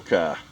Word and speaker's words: Kai: That's for Paul Kai. We'll hook you up. Paul and Ki Paul Kai. All right. I said key in the last video messed up, but everybody pronounces my last name wrong, too, so it happens.